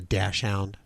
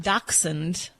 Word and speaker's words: dachshund: Well, I mean, daxund, daxund is like the appropriate pronunciation, but people say all it's like people I have people come in saying, I brought my rockweiler or rockweiler.